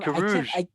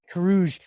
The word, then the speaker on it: Carrouges: So if you were in Coron's position, Every time you say his name, you say I something change it. different. I know it's Corion, right? Or Coron? Carrouges. Carrouges.